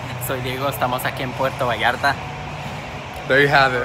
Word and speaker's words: Puerto Vallarta: Diego finally taught me how to say it. It's Puerto Vallarta.